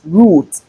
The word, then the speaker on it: route: Many people pronounce this as route. R O U T E is root and not rout. All right, that's because we have the oo sound in between, not the sound. So it is root.